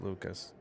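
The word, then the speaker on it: Lukes: That That was Lucas who's 0 for two. No, it's spelled L U K E S, but it's Lucas.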